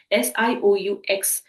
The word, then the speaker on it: Sioux: is called as the Sioux tribe, Sioux. Now, I know that the spelling is not aligning with the pronunciation, but that X here is completely silent.